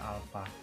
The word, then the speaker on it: alfa: Momen inersia disimbolkan dengan I besar, dan percepatan sudut disimbolkan dengan seperti ini membacanya alfa.